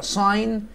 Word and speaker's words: sign: بنقول هل هي song هل هي ساين جي سايلنت زي ما اتفقنا؟